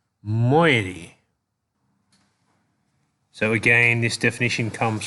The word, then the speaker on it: moiety: of such slave one I believe this word is pronounced moiety so again this definition